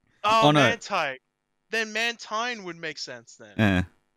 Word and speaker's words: Mantine: I think it's supposed to be pronounced Mantine. I think, but the spelling is really, like, really... It's supposed to be Manta Ray and Marine.